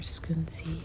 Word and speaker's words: Scunci: They have more scunci. Scunci, right, is the right pronunciation.